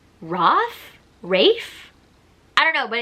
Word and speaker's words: Rafe: So his full name is Raphael. So I'm assuming they shorten it. So I'm assuming it's Rafe?